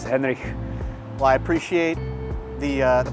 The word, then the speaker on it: Henrich: You can't say the CH, so I'm used to being called Henrich, you know. So, but the authentic is Henrich.